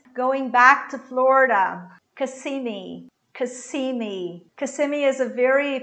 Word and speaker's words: Kissimmee: Going back to Florida, Kissimmee, Kissimmee. Kissimmee is a very popular place among Brazilians that have houses in the States. It's a place in Orlando, so it's Kissimmee, Kissimmee.